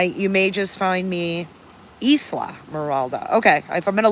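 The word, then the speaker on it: Islamorada: And you don't pronounce the S? Isla Morada?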